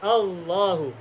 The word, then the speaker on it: Allah: berasal dari kata ilahun diawali oleh Al menjadi Al Ilahi kemudian diringankan bacanya semula Al ilahu menjadi Allah atau semula menjadi Allah kemudian di tafkhim menjadi Allah nah ketika kita tahu